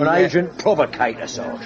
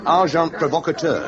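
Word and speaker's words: agent provocateur: And agent provocator. Amazing. Packar. The pronunciation. however is arjant provocator.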